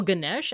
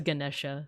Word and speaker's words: Ganesha: I There's different ways I think. think uh cuz I've heard Ganesha Gan Ganesh Ganesha G like with a JI at the end. So I think it depends on like the specific region or community, but I learned it as Ganesha.